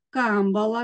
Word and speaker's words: камбала: Мережі наголос має бути на другий склад, камбала наголос має бути на перший склад, і тигрові наголос має бути на перший склад.